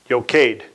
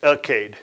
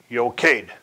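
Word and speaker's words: Eochaidh: of the Malaysian line a prince named uked yokaid some pronounce it okayed I'll spell it for you e o c h i or a i d h pronounce yokaid all right I got to get my really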